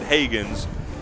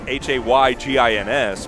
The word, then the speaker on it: Heaggans: We've been pronouncing it Higgins as Haygins, but they spell it Heaggans.